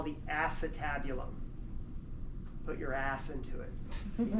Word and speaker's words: acetabulum: in the hip bone that we call the acetabulum. Put your ass into it, type of thing. It's spelled acetabulum, but it's called acetabulum.